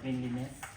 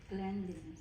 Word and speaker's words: cleanliness: I right so The second one is the cleanliness clean can you pronounce the word again cleanliness superficial number two number two clean cleanliness is